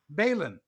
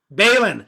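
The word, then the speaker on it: Baline: repeat after me israel bailin bailin like berlin bailin yeah but i'm saying the accent is on the first syllable bailin berlin and in in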